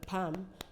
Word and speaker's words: palm: the front of your palm that's your palm front of your hand you could refer to our spam the L is also not pronounced in the word um